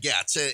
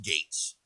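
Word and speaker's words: Gaetz: gates story you know i've always said matt gatz and uh multiple people told me it's actually it's pronounced gates uh the gates way to hell i i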